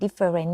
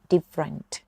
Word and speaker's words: different: แตก ต่าง It's different คำ นี้ ไม่ อ่าน ว่า different นะ คะ อ่าน ว่า different different It's different หอม จัง it